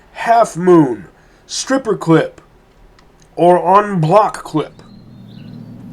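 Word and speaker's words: en bloc: Examples include, but are not limited to, full moon, half moon, stripper clip, or onblock clip. It's spelled n block, but it's pronounced onblock.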